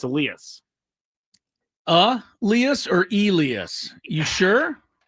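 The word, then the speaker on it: Elías: Pronunciation of Elas Diaz. It is Elas. Elas or No, it's Elias. It's Elias.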